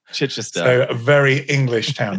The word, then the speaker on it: Chichester: guest is mike maynard i'm going to mispronounce this mic chichicha england which is in the south of england correct me on that one is that is that off oh that's that's pretty good justin it's chichester chichester a very english